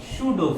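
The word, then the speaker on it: pseudo: इसको हटा के इतना ही फोर्स जो ऑोजिट लगाया है इसे बोलते हैं शूडो फोर्स। पी साइलेंट होता है इसमें।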